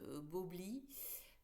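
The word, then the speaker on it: Bowlby: Donc le psychologue, alors je vais le prononcer à la française, Bobli, dans les années 70, a créé une théorie de l'attachement.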